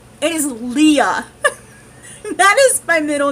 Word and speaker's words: Lea: question I was asked is how do I pronounce my middle name it is Lea that is my middle name it is Li uh le aah I say it so fast